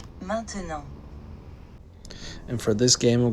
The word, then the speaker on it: maintenant: Attention to the pronunciation of the word now in French, that is. Maintenant.